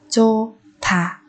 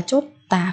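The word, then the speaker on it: 좋다: Còn ở đây chúng ta biến âm đi thành chô thả. Không đọc là chốt tà các bạn nhé.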